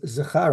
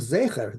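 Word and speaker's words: זכר: He says, "Well, it says Timche as Zachar Amalek to basically destroy the males of Amalek." And he says, "No, that's not how you read it. It's spelled Zayin Chof Resh. It's spelled Zecher, the memory of.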